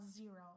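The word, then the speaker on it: Xero: And it's called Zero. And you spell it X O.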